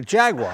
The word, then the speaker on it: Jaguar: The Jaguar, as when pronounced correctly, fascinating car.